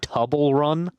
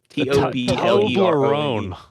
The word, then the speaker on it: Toblerone: to break this down are you saying the tubble run because that's what I'm hearing how do you say it t-o-b-l-e-rone Toblerone yes Hubble run bar okay